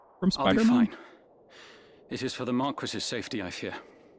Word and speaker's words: Marquis: Unless it's like the English pronunciation of the French word.